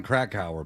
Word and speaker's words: Krakauer: Now, the book Jon Krakauer book, that's correct pronunciation, right?